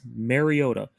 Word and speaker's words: Mariota: it is not marcus mariota is mariota it's not mario duh it is not mariota it is mariota mariado